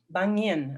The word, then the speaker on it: Bangyan: Bangyan, excuse me. Yeah, if you know Bangyan tree, maybe can help you pronounce.